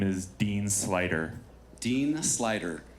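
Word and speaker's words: Sluyter: t r yes D I would pronounce that Dean Sloter but it's slider slider like van eyes van eyes okay right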